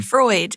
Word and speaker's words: Freud: Sigman Fruit would have a field day with that one. E, that's bizarre. Sigma, how how do you say his name? Freud. Is it Freud?